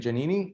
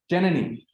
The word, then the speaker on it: Janani: Just 1 second, Janini, and tell me one more time. Align. The exam is in class. Yeah. Tuesday in class. Janani, right? Janani. I have to put the accent on the right syllable.